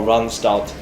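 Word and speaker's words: Randstad: heard of manpower or runstart that's actually the way the dutch tend to pronounce it um so i really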